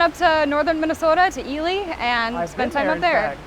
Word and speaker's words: Ely: So it looks like Eli, but it's pronounced Ely.